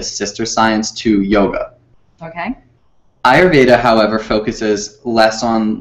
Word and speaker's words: Ayurveda: your ire i still have a hard time ayurveda ayurveda so what would you like to talk